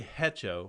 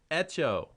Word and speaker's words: hecho: proper pronunciation you can spanish the h is always silent okay and if you say hecho i'm going to get up and walk out of here you say it again hecho echo all right the h